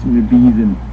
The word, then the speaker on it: Medivh: call him Medivh because apparently I pronounced his name wrong. It's Medivh.